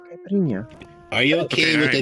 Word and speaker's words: Caipirinha: My name is Caipirinha. Caipirinha. Is that how you say it? Caipirinha? Caipirinha? Yeah. Caipirinha.